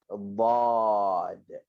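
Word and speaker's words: ضاد: Okey, nama huruf ni adalah dad. Okey, dad. Ejaan dia adalah D-A-D. Bukan dad. Janganlah baca bahasa Inggeris pula.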